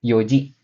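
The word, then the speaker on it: 四時: Niji jam 3 Sanji Nah untuk jam .00 di sini bukan yonji ya teman-teman tapi Yoji Jadi jangan sampai salah ya teman-teman Nah untuk jam 5 ada goji jam 6.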